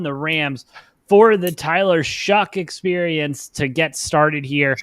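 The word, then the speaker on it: Shough: It doesn't look like it, but apparently that's how it's pronounced.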